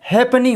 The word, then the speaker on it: halfpenny: जैसे HALFPENNY, इसका sound हैपनी होता है, हैपनी। आप इसे हैपनी या हाफ पेनी पढ़ सकते हो और इसका हिंदी